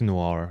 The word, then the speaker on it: noir: noir movie doesn't it a nor movie it's noir i think that's how you say it it kind of has